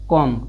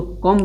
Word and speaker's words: comb: इसे दिया है एग्जाम्पल कॉम, कॉम, इसको क्या पढ़ना? COMB, यानी यम के बाद आया है बी, इसको कॉम्ब नहीं पढ़ेंगे, इसको पढ़ेंगे कॉम।